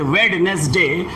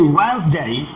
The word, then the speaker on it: Wednesday: Normally the word is pronounced as Wednesday. The correct pronunciation is Wednesday.